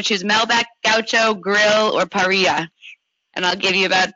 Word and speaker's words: parrilla: And I know in Argentina you pronounce the double L's like a J, so Parrilla is how you'd pronounce it.